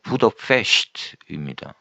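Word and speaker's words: Buda: 어 헝가리식 발음으로는 부더입니다.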